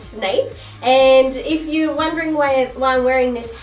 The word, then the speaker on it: Snape: who the heck is snape and why am i wearing this silly hat well first off my name is snape and a lot of people get my last name wrong it's snape and if you're wondering